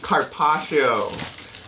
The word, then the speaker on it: carpaccio: gonna add some soyuz no Carpaccio that's how you say it you put the sauce